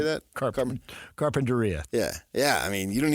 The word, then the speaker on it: Carpinteria: Carpinteria.